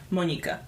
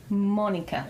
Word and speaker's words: Monika: Is it more like Monika instead of Monica? Monika. Monika. It's the official Monika. Polish, yes. Monika.